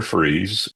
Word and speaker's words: Fries: I I grew up near Freeze, by the way. That my hometown is called Freeze, Virginia. It's spelled F R I E S, but it's pronounced freeze.